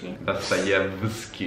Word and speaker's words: Dostoevskij: to read Tolstoj, Dostoevskij I said it wrong! He corrected me! How is it pronounced? - In Russian is Dostoevskij - Dostoevskij Tolstoj.